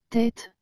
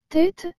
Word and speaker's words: tête: tableau et le mot tête vous avez remarqué que j'ai bien dit tête et non tête encore ici la différence est faible mais existe réellement je recommence encore une